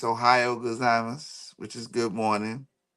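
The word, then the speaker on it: おはよう: Kichiwa say Ohio. Gazimus. Say Ohio. Just like the state Ohio.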